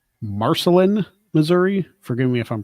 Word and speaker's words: Marceline: time kids stand by in I believe it's marcelin Missouri forgive me if I'm pronouncing that town of Walt Disney Marceline yes oh Marceline there you go miners can